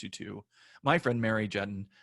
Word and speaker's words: Juetten: to my friend Mary Jen rhymes with a button we are talking about